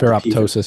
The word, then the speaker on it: ferroptosis: Sorry, I always drop ferroptosis. the P. Yeah, it's like apoptosis. Yeah. So pronouncing the second P, apoptosis.